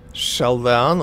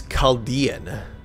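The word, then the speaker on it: Chaldean: chess board okay huh shell down oracles is that how I pronounce that H kind of wondering hold on nope never mind it is caldian and as I found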